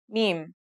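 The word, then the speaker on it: م: Now let's start with our first letter meme. This letter sounds just like the English M and it should be pretty easy to pronounce.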